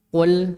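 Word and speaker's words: قُلْ: Antara qul sama kul. Saya ulangi. Qul sama kul. Bedanya, Pak. Ini kalau salah bacanya berubah artinya, Pak. Kalau qul qaf qul itu berkatalah. Kalau kul ada sedikit hamsnya. Kul itu makanlah.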